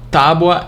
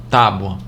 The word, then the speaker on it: tábua: Tábua é paroxítona. Paroxítona terminado em ditongo, tá? Tem um ditongo crescente aí. Tábua.